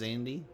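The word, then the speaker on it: Xande: It is Zandy? Cool, I did say it right.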